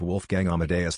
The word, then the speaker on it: Wolfgang Amadeus: It's pronounced Wolfgang Amadeus.